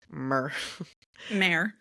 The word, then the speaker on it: Mer: He is Mer. Mare. I know, but Mer. I know. But it's spelt Mer, and it frustrates the crap out of me.